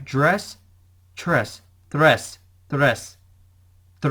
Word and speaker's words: tres: dress and was showing off that's right dress tres the rest the rest the rest and so